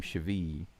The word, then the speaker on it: Chivilli: It looks like Chivilli, but they're calling him Chivi. I guess the 2 L's has the Spanish sound.